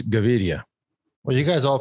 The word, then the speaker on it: Gaviria: george is actually colombian and he's still not pronouncing davidia right we've been davidia yeah you can video